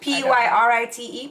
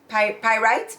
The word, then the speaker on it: pyrite: they found gold Pirates that's how you pronounce it p-y-r-i-t-e pirate pyrite pyrite gold that's what they